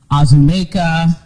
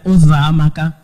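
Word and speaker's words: Uzoamaka: And I would have teachers or anyone, neighbors, try and say my name, and it would be Azumeka, Uzamaka, Uzokuza, any version that they could think of other than Uzamaka.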